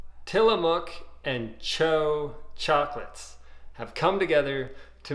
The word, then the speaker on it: TCHO: and it's the first it's the pronunciation of the first three letters of chocolate cho so i did a